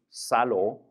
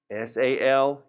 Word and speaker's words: salgo: It's not going to be salo, which we normally think it might be. it's going to have the same change. So how do you spell it? S-A-L-G-O. So it's going to be salgo.